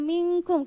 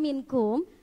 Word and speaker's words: minkum: wa ulil amri minkum Kenapa dibacanya mingkung kenapa enggak minkum apa hukumnya nun mati bertemu Kav Hayo apa ikhfa pintar next file tanah